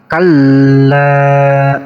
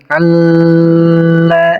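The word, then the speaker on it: كلا: Di sini ada lam alif yang ditasydid, cara bacanya harus dihentakkan. Kalla. Nah, seperti itu. Tapi jangan ditahan dari lamnya, jangan dibaca seperti ini. Kalla. Nah, jangan ditahan seperti itu, cukup dihentakkan saja.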